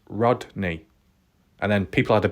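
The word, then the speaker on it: Rodni: in the past I was calling it Kylie rodri rod drie but it was pronounced Rodney and then people had a bit of a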